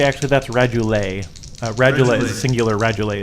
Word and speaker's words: radula: believe are called, and can you help me pronounce this, rules lawyer? The things on the outside, radula?